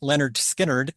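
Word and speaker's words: Lynyrd Skynyrd: It's a track from their 1973 debut album, pronounced Leonard Skinnerd.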